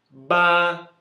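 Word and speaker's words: 八: Ba. BA no primeiro tom.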